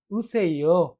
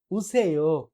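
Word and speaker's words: 오세요: তাহলে উচ্চারণ কি হবে? উসেইও আসুন। উসেইও আসুন।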